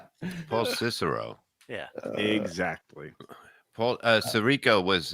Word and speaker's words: Paul Cicero: Much like Paul Savino was when he played Paul Sorico. That's not how that word's pronounced, dummy. Paul Cicero.